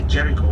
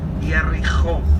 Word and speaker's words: Jericho: We don't say Jericho. We say in Hebrew Yericho or Bet HaYerich.